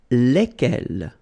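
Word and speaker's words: lesquels: give you the pronunciation leg l alright so final s is not pronounced so here when you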